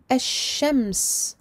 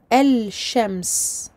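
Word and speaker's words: الشمس: Il n'est pas prononcé dans le cas des lettres solaires. Solaire parce que, en référence au mot ash-shams. Ash-shams. Dans ce mot, nous ne prononçons pas le lem de l'article alif lam. Nous ne disons pas el-shams.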